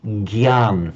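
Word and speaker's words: jñāna: jnana, knowledge, for example, in Marathi, do you pronounce it as a jna? How does Correct. That's how we pronounce it. Okay, fine. Yeah. I think that you are the Marathi speakers are the only ones, I think, in northern India who still pronounce it in that Sanskrit way. Because as you know, in Hindi, they'd say gyan, for example, the g sound.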